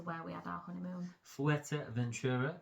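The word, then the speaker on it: Fuerteventura: we had our honeymoon fua Ventura is how they say it f Ventura fua Ventura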